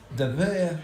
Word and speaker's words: WIR: doesn't it's not material very bank that's pronounced ver it's wir bank is one circular